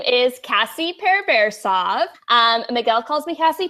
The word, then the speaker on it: Pereversoff: Kathy kee but like I said it's Cassie pur versa where did I begin basically I started off